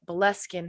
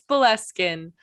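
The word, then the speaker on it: Boleskine: property overlooking loch ness which is called the belleskin house which is not how we pronounced it in the first episode but we checked it this time and it's buleskin these rituals that he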